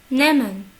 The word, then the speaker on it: nehmen: Nehmen, nehmen, nehmen. Vous voyez ici que le H est muet. Si vous vous rappelez, j'ai dit au début de vidéo qu'il y a des cas particuliers. C'est là. Nehmen.